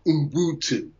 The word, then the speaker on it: Ubuntu: The word is Ubuntu. Ubuntu. Ubuntu. It's spelled with a U, but it's pronounced U.